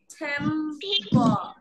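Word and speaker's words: September: ই আর বি ই আর বি ই আর সেপ্টেম্বর আর টা বলবো না রং উচ্চারণ করবো না সেপ্টেম্বর ওকে সেপ্টেম্বর সেপ্টেম্বর ওকে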